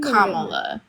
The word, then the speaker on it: Kamala: It's not pronounced like koala. It's pronounced like Pamela. Like Kamala.